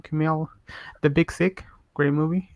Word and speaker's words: Kumail: And what's the name of Kumail Nanjiani? Yeah, right. That's how you pronounce Kumail.